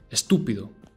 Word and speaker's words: estúpido: Estúpido. Again, emphasis on the U, because that's where the tilde is.